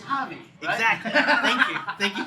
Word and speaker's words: Javi: him up qc holly it's not with an h it's a j but it's spelled it's pronounced hobby so go ahead it